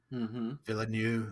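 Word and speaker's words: Villeneuve: Villanu Villanu.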